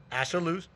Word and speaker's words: Ashaolu: Rhymes with absolute. Mm-hmm. Ashaolu is the athletic director at Point Park University, right across the river here.